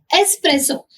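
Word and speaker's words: espresso: हाउ डू we pronounce it एस्प्रेसो। एस्प्रेसो क्या होती है? बहुत गाढ़ी और यू कैन से छोटी कॉफी होती है। ठीक है? जो कंसंट्रेटेड फॉर्म ऑफ़ कॉफी है वो होती है हमारी एस्प्रेसो।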